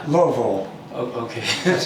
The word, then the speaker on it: Louisville: They tell me to drop it in the back of my throat. What is that? Louisville. Uh-huh. Some people would say Louisville. Uh-huh. It's Louisville.